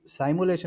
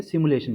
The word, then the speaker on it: simulation: ये साइमुलेशन नहीं है सिमुलेशन बोलते हैं ओके वो प्रोनाउंसिएशन है ओ ओके सिमुलेशन सर।